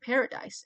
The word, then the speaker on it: paradis: And I thought, wait, parody is also very similar to the word paradise. And I know paradise in French is paradis. And that rhymes with ami.